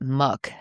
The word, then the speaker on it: Moo: Most sources seem to pronounce it moo. There are a couple sources that pronounce it muk. And just by looking at it, I would have guessed it's muk, but I'm going to go with what the majority of sources said, which is moo.